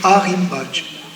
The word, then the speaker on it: Rimbach: On dit, il s'écrit ruisseau de Rimbach, mais quand on le prononce, on dit Arimbach.